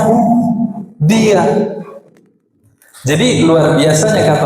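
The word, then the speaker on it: هو: Lam kedua diambil bacanya hu, dia.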